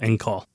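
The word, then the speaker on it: caul: The word call and it's not spelled like, you know, it sounds it's not c A L L.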